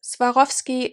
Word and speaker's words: Swarovski: any case i digress swarovski is how we would say it in german and in also austrian german and swiss german so swarovski obviously is